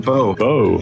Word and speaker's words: Bo: So next is is it pronounced Bo?